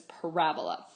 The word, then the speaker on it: parabola: of the wrong people, because the accent is on the second syllable, so it is parabola.